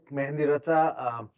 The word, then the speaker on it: Mehndiratta: I'm Mehendiratha. The H is pronounced.